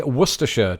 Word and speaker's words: Worcestershire: Joy asks, how do you say Worcestershire?